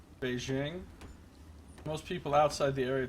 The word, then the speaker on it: Beijing: happy you pronounce Beijing with a hard J out of soft J Beijing Beijing most people outside the